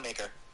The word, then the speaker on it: Maker: So the Bucks, they got rid of Thon Maker, or Thon McCour, as some people like to call him. No way, did he have a new... It's apparently the correct pronunciation is McCour, but for me, it's not.